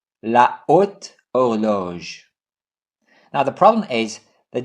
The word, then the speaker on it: horloge: H is always silent, but actually there are two kinds of H, silent H and aspirated H. We don't pronounce either, but there is a difference. If there is silent H, we have elision, so we put apostrophe. Instead of saying la horloge, we say l'horloge.